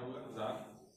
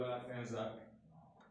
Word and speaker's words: tsar: क्या होता है स्पेलिंग? CSAR होगा जार, या TSAR भी लोग लगाते हैं जार।